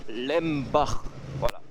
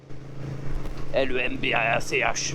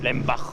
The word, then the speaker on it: Lembach: Voilà, ça même pour les Français de l'intérieur, c'est pas difficile à prononcer ou à écrire. Lembach. L-E-M-B-A-C-H, Lembach, voilà, et pas Lembach, comme j'ai déjà pu l'entendre, Lembach. Ah, tu vois, là j'étais apprenti, là, dans le garage, là, à l'époque.